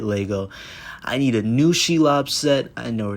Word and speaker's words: Shelob: I need a new Shelob set, or Shelob, however you want to pronounce it.